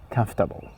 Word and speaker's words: comfortable: And one of the most commonly mispronounced words, comfortable, comfortable.